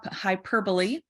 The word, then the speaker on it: hyperbole: you're describing or talking about then we have hyperbole everybody say hyperbole again hyperbole hyperbole hyperbolite because